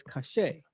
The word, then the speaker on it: kashe: That's how you say it in modern Hebrew, is kashe.